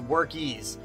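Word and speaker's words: Workiz: Another app, guys, that I talk about all the time and I use all the time is WorkIs, it's pronounced actually.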